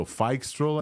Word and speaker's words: Phixtral: things things he talked about fix trol so F stroll is the way to pronounce this the the FI model for Microsoft